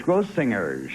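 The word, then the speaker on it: Grossinger's: singers yeah isn't it it's gross singers for a hard G grow singers grow singers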